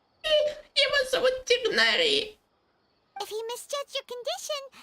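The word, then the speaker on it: Tighnari: But why didn't you say anything about it to Tainari? Его зовут Тигнари.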